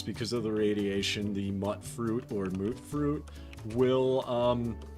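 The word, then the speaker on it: Mutfruit: comments did tell me the correct pronunciation is uh actually mut fruit uh because there's no real vow that makes that ooh sound it's mut fruit and I have to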